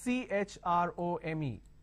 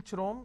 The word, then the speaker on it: Chrome: Now here, this is CHROME. Can I say Chrome, like Google Chrome? No. The pronunciation is Google Chrome.